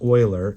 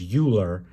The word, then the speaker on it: Euler: Euler I know that looks funny because it's pronounced Euler even though it looks like it's Euler but this is a famous mathematician he's one